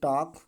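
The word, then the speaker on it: talk: टॉक, वॉक, चाक, ठीक है। Next, यन का साइलेंट होता है किसी भी शब्द में यम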